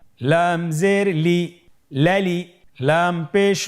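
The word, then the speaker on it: ل: পরবর্তী হরফ লাম, উচ্চারণ সহকারে হরকত দিয়ে বলুন লাম জবর লা, লাম জের লি, লালি, লাম পেশ লু, লালি লু।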